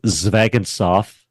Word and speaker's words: Zvegintzov: So, last name is Zvegintzov, which is a Russian name, obviously very ethnic, but I grew up in Wyoming.